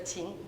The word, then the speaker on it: qin: So this is called the Can we try to pronounce it? Yeah. Yeah throughout history the instrument called the chin just the chin okay kin n gu in Chinese means ancient.